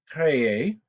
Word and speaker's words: créé: It's pronounced créé, and that's perfectly fine to have double letters like that in French.